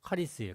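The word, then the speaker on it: χάρις: 카리스인데 카가 아니고 카카이 그 발음이 좀 힘들어요. 카리스예요.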